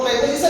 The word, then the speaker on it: preposition: कुछ बच्चे कभी कहते हैं प्रीपोजिशन, कुछ बच्चे कहते हैं प्रेपोजिशन, लेकिन इसका सही उच्चारण है प्रेपोजिशन.